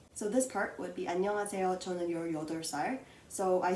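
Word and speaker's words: 안녕하세요: so i will actually teach you how to pronounce it so there is no need for a romanization so this part would be annyeonghaseyo tony yodersar so i said yo dersai because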